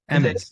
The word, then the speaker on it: Emmons: Emmons, yes. Okay, I'm saying it right. Emmons.